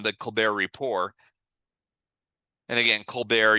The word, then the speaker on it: Colbert: And again, Colbert, you don't pronounce that T.